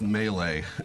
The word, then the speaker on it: Mele: in its documents Thanks it's pronounced Mele as if it had to wheeze on the end of it my name is